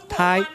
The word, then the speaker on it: TAI: AI 科技，读音刚好就是客家话的大，象征桃